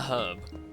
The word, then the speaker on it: herb: But like herb, because it's a herb. But if you're American and you pronounce it herb for some weird reason, Why not? then it'll be an herb.